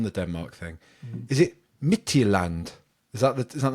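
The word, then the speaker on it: Midtjylland: the team yes yeah almost the the D is silent at the end but other other than that you've nailed it yeah mitan that y yeah nice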